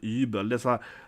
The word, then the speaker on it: Übel: This is pronounced with a Y in German, if you didn't know that. So, this is not you, like Übel. This is not Übel, it's Übel, Y, like a Y. But you say, but not like an E in English. So, the way you pronounce Y, right, in German is Y, like that.